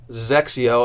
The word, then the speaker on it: XXIO: xx IO and pronounced sexy oh I always say sexy with a Z sexy Oh easy way